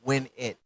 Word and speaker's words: Winette: Yes, I know some people pronounce it wet, but it's win it because